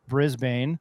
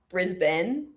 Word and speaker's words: Brisbane: pronounce Brisbane and Melbourne Brisbane Brisbane no Ben you're pretty much saying Ben at the end of both of them yeah but you did